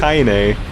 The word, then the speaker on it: Kaine: So Kane has been like Kanye. fighting this Kanye. It's been Kanye. I can never pronounce it. I just can't pronounce it Kanye and take it seriously. Is it? What It's is it? Kaine.